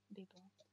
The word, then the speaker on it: vivo: Первая буква читалась как Б. А вторая буква, которая посередине слова, она читалась как... как будто вы английское W хотите произнести. Уэ, уэ. Но при этом не округляйте губы. И не смыкайте рот, как при русском В. Не нужно смыкать губы. То есть вы просто уэ. Биво, биво, биво, биво. Потренируйтесь. Биво. Такой как бы немножко недоделанный звук В.